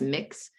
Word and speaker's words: Mx: and like Ms., there is the gender neutral mix, which is like MX. So that kind of removes the R from Mr. and removes the S from Ms. And so it's pronounced mix.